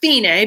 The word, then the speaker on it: fine: No, it's not pronounced fine. It's fine because it's Italian.